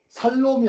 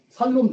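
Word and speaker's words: שלום: 뭐 샬롬을 발음을 잘하셔야 돼요. 살롬이 아니에요. 샬롬. 샬롬. 죽일놈이 아니고 샬롬.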